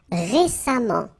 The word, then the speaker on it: récemment: So as I told you, even if you write it E-M-M-E-N-T, phonetically it goes like amant, patiemment. Alright? Récent, same rule, récemment, récemment, récemment.